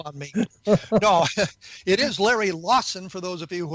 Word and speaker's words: Larry Lawson: My guest, Larry Lawson, was so annoyed that I mispronounced his name, he hung up on me. No, it is Larry Lawson, for those of you who are keeping score at home.